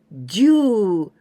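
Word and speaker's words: 住: sumimasu to live and in onyomi we pronounce ju long sound for example this one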